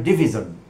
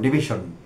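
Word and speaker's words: division: হয়েছে নানাভাবে মিথ্যে কথা ডিকশনারিতে ডিভাইডেশন কোন শব্দ নেই শব্দটি হল ডিভিজন প্রচলিত এবং ভুল উচ্চারণ ডিভিশন এবং শব্দটি এসেছে ডিভাইড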